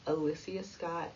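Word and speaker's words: Alyssa Scott: tuesday um nick cannon and her name is pronounced alyssia scott had announced that their five-month-old son zine had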